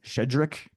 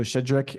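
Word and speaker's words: Щедрик: This song, which was known as Shedrik. So the pronunciation SHCH is like a sh. So Shedrik is about the idea that there's bounty to the season.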